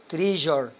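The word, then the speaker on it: treasure: من مجرد نظره للكلمه عندك التركيبه اس يو ار اي بتيجي في نهايه الكلمه بتنطق جر يلا بقى زي ما اعودنا مع فكر وحاول تنطق قبل ما انطق الكلمه ها هننطق المقطع الاول هنا الكلمه من مقطعين قسمها تري وادي المقطع التاني جر برافو تبقى ايه على بعضها تريجر برافو معناها كنز يلا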